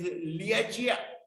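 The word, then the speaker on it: Lieque: The name in Chinese Liachia, but the spelling is Liquia. but they pronounce it liachia.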